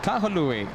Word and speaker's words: Kahului: Yes, Kahului. That's how you pronounce it.